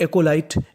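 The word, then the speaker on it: acolyte: आपको इंग्लिश का एक रूल याद रखना है कि अगर आपको इंग्लिश की किसी भी मीनिंग के आखिरी में ई लिखा मिले तो आपको ई का उच्चारण नहीं करना होता। तो मीनिंग बन गई हमारी एकोलाइट।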